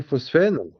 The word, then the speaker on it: phosphène: Phosphène, ça s'écrit H, il y a pas de F là, dans le mot. Phosphène, voilà, que PH, PH. Euh, donc ça a été,